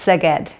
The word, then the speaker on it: Szeged: It's Szeged. It's spelled S-Z-E-G-E-D.